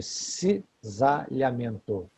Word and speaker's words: cisalhamento: Esse deslizamento para trás, em direção ao corpo vertebral, é chamado de cisalhamento, com C na primeira sílaba e S na segunda. Cisalhamento. Lembra de sisal.